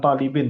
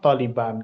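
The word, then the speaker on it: طالبًا: Bukan talibin, tapi taliban.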